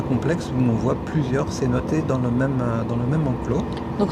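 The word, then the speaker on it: cenote: Alors les cénotes en français, cénoté à prononciation locale, ce sont des sortes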